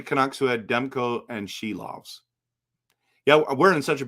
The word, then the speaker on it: Silovs: at pronouncing names, but they call them SILOVS, and it's SILOVS. In fact, the Latvian people were coming in to my streams and telling me that it was SILOVS. No, not she loves.